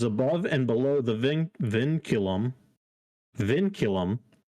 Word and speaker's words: vinculum: got one that little line is called a vincurum vinculum you could ask me that but i had no clue it's pronounced thank you yeah thank you thank you